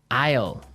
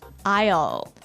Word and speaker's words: aisle: Aisle. Aisle. A-I-S-L-E. Aisle. Aisle. It's a tricky word. It sounds like the contraction of I will.